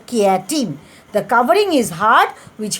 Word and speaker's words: chitin: The spelling is chitin, chitin, but it is pronounced as chitin, which protects their soft internal organs.